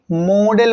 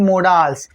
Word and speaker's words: modal: सो the correct pronunciation of this word would be मॉडल verbs, not मोडाल्स।